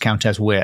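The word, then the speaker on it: Countess Wear: It's spelled Countess Ware, but I'm pretty sure it's pronounced Countess Weir.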